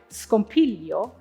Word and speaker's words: scompiglio: In words like scompiglio and flagello, the stress will always fall on the second last syllable. Scompiglio, flagello. Be sure not to accent the last syllable.